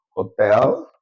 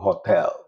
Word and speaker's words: hotel: I've given you, for example, hotel. So anywhere H appears, is silent. You don't pronounce it.